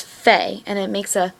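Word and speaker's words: פא: The next letter is fe. I know the book says pay, but we learned pay as the letter with a dot inside of it.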